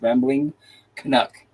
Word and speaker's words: Rambling Canuck: And it's just like it's spelled. It's spelled like it's pronounced. Rambling Canuck.